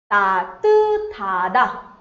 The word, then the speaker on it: 따뜻하다: Now a pronunciation rule, when these two consonants come together, the sound is th. 따뜻하다. Sounds something like 따뜻하다.